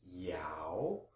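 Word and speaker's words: 尧: And the component on the right is pronounced yao, Y-A-O, second tone.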